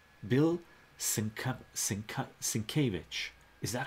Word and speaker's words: Sienkiewicz: Sin K Vich. Bill Sienkiewicz. Is that how you pronounce it?